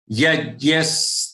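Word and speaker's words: यज्ञः: pronounce it, fine, but it is supposed to be jya. Okay. Yajyas tapas tatha danan.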